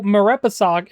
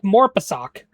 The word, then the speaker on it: Marepisok: See, that's a name that I can say, even though Marepisok is not what I thought that how it would be pronounced. Because if you just look at it, it looks like Morpisok.